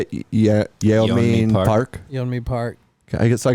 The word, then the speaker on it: Yeonmi Park: Yeonmi Park.